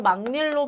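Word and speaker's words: 막일: 이용 으로 바뀐 거죠 그래도 망 밀로 발음을 하는 것이 맞습니다 막 일 아니에요 송곳니의 경우에 얘는 살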